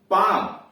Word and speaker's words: palm: PALM पाम, क्या पढ़ते हैं, पाम, हथेली।